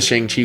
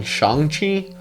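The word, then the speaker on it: Shang-Chi: names i just know the shang chi which they're calling shanxi i don't know which pronunciation feels more right so but i think they're going to be going with shanghi because of the fact that that's what kevin feige called it okay so and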